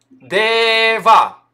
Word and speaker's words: Дева: Дева, например. Ударение ставится на не последний слог, то есть предпоследний.